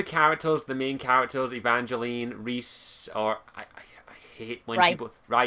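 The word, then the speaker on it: Rhys: I've known a Rise. I think David Guider. I did ask David Guider when I originally reviewed Asunder, how the fuck do you pronounce Reese and Evangeline? He says it's pronounced Reese, I think.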